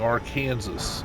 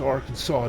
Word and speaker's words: Arkansas: And you know that some legislator out there got annoyed because people go around joking, saying Arkansas. And they're like, stop, you know the name's Arkansas, Dave.